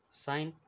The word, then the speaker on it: sign: Sign, G is silent.